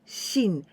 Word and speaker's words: 真: Next kanji is this one, and we can pronounce in ma or ma with jump sound and shin.